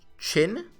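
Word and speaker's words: Qin: on the Japanese service spelled q i n is pronounced chin that's what a friend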